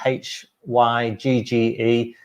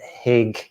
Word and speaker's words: hygge: cozy it's spelt uh h y g g e i pronounce it very badly by just calling it higg but um it's more like hygge hooker something like that if anyone has the